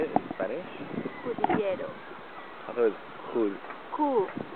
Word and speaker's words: Cudillero: Cudillero.